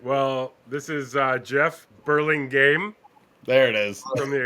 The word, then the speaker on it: Burlingame: We got Walton, Doyle, and Jeff Burlington. And thanks for Burlingame, Marty. Huh? Burlingame.